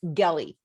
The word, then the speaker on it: Gelli: name my name is gelli okay it's pronounced like kelly with a hard g it's a little bit